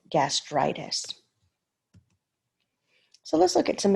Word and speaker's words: gastritis: vowel so for example if it's gastritis you would not say gastro itis you would take this vowel off because the next the suffix already starts with the vowel we don't usually like